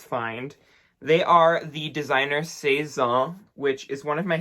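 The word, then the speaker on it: Sézane: Saison, or Cezanne, if you want to pronounce it in the English version.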